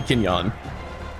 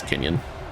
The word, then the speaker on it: Kenyon: I guess it could also be Kenyan. Like you can pronounce the O. Yeah, it's Kenyon.